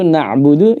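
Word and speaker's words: نعبد: Padahal di situ na'budu ya, pemirsa, na'budu itu tulisannya budunya pendek. Nah, tidak ada wawunya situ ya. Ada wawunya setelahnya tapi bukan waw mat ya.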